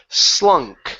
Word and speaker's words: slunk: So the word is slunk. So it's an unvoiced S at the beginning and a K sound at the end.